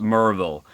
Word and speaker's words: Maryville: here and tell me, you don't pronounce it Maryville, it's pronounced Murville. It's pronounced Maryville. That's the way my voice says it. That's the way my mouth says it.